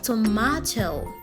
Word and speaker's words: tomato: British English okay so in British English this word is rightfully pronounced tomato tomacho tomato not tomato not tomato there's no letter N there repeat after me